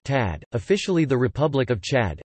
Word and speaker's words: Tchad: Chad, listen, Arabic, Shad to Shad, French, Chad pronounced Tad, officially the Republic of Chad, Arabic, Jamrit Shad Jumhuriyat Shad, French, République du Chad lit.